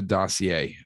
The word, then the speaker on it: dossier: the rush the russia dossier uh who said that you were in cahoots with putin and he we don't hadn't weak french pronunciations here it's dasir we say dasir no dossier is how